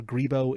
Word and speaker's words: Grebo: And I apologize, I don't know if it's actually pronounced Grebo or Grebo. It's Grebo.